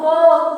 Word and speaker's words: folk: FOLK, क्या पढ़ोगे? फोक पढ़ेंगे, एल नहीं बोला जाएगा।